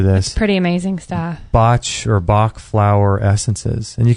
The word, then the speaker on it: Bach: and they're called the bach flour Essences I think they're actually pronounced bot but it's spelled Bach b a c h flow so we'll put a L this pretty amazing stuff botch orach FL Essences and